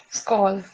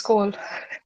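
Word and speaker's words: skål: but any oh this this uh a letter with the dot on top is pronounced oh so any suggestions go skull it's cold exactly very nice it's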